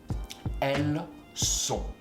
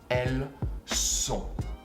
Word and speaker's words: elles sont: They are, female version, which is basically elle and il, which is she and he, with an S at the end that you don't pronounce in front of an S, which is a S from sont, and you don't pronounce the T neither.